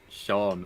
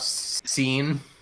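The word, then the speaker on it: Seán: Irish in Irish that the a with the accents on it is what makes it Sean other than that it would be like Shadow pronunciation hmm not seen no not seen is that there's a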